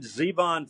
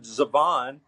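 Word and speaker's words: Zevon: tell the real Warren Zeon fans because they know how to pronounce his last name it's not Warren zabon it's Warren Zeon and uh just a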